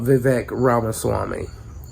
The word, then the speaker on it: Vivek Ramaswamy: So I want to talk about Vivek Ramaswamy. Or Vivek Ramaswamy, I think his name. I think the K is silent.